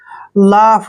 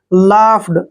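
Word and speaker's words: laughed: ऐसे ठीक है और जब भी ए के बाद यू जी एच इकट्ठा आता है तो वहां पर यू जी एच का उच्चारण हम फ से करते हैं ठीक है और ईडी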